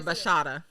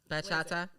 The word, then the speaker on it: bachata: Salsa or bachata? Did I say it right? Bachata. Did I say it right? Bachata? Bachata. Bachata. Yes. Like you're saying horchata.